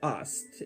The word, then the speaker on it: Isis: has the foundation of Ast, and that is not a random analysis, it's just that the Egyptians pronounced Isis as Ast.